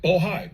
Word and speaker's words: Bohai: I want to make sure I pronounce it right. Bohai, B-O-H-A-I.